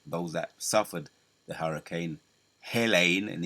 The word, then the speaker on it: Helene: They got the Hurricane Helene. That's how you pronounce it.